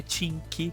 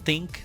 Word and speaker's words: think: Lembrando que a pronúncia de think não é tink, não é think, não é f. Muitas pessoas colocam como se fosse uma letra F. Mas lembrando que a pronúncia do th é think. Você sempre vai colocar a língua entre os seus dentes e fazer um sopro.